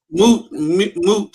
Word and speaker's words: moot: Moot. Moot. The mute point.